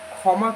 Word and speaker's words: ক্ষমা: You can notice that here is kyo, the conjunct letter. Okay, so there doesn't have the kho, there is using the kyo. So kyo mo a, kho mo a ma, ক্ষমা.